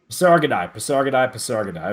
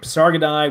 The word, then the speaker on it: Pasargadae: I'm sorry, the Parasad. Is Uh, that it? Pasargadai. Pasargadae. Okay, good. Pasargadae, which is the one Cyrus founded.